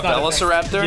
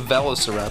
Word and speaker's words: Velociraptor: said is not real a veliseraptor yeah that's not a that's not a thing how do you say it Velociraptor no it's a velociraptor there was a whole